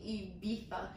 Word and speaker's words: Ibiza: The way you're saying Ibiza. Well, that's how they say it on the show. I know, but us Americans say Ibiza. I know, Ibiza. But in the UK, they say Ibiza.